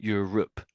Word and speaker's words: Europe: So, it it looks like the word rope, but we're not really pronouncing it as rope. We pronounce it as um Europe.